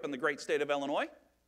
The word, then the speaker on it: Illinois: I grew up in the great state of Illinois not Illinois as my children make fun of it you don't pronounce yes we think we've had winter in